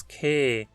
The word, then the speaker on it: kein: De fato, é muito comum que se fale apenas que, sem pronunciar o N. Mas isso não é regra e varia muito entre os falantes. Então, mesmo que você veja um N escrito, se quiser pode falar a palavra sem pronunciá-lo.